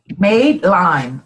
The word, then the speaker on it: Madeline: Madeline. No, M-A-D-E. Like I made it.